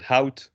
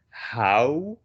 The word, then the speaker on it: hout: So if you say the word hout, it's OU. You know how to pronounce that. Just think hout with a T.